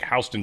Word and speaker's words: Houston: And I'm like, "The dude just mispronounced Houston." What? How weird is that? And then he said it again. I'm like, "That's not mispronounced. That's That's how they pronounce it."